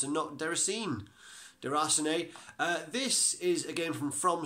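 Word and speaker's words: Déraciné: the first one is der hacen a people have been pronouncing it is their arseny so that must be how it's pronounced and ever seen de Rosnay this is again from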